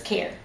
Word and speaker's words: Kaehr: to say it exactly, so it's care. Care, right. Like Care caring Bear, for care people, caring for package. people. Yeah, I've heard I it all. care for you. Yeah, I so care that's for you.